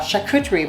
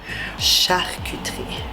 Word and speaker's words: charcuterie: So today what we're going to do is we are going to put together a charcuterie board.